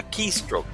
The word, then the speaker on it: keystroke: C'est keystroke. Voilà, l'opé un bouton non clavier là, il est ça, keystroke. Parce que l'accent, c'est sur première syllabe là.